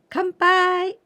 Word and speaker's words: 乾杯: Sound Ken Ken n and Pie can pie Kampai kempai this pie is the same kanji it